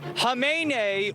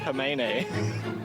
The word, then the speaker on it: Khamenei: Khamenei with the silent K. Okay, yeah, Khamenei.